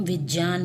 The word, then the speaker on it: विज्ञान: शुद्ध उच्चारण किया जाए, क्योंकि ये ज और य के मेल से बनता है, तो इसका उच्चारण होगा विज्ञान।